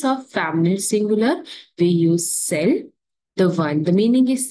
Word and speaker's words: celles: In case of feminine plural, we use celle with S, but the pronunciation is celle only.